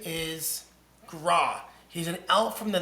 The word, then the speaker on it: Gra: What is Gra?